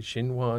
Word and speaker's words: Xinhua: from people like, I don't know how you pronounce it, Xinhua News?